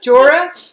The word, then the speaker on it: Jorah: Tracy to meet Ser Jorah. I don't even know how to say his name. Jorah. Jorah Mormont. Oh, I thought there was a G in there.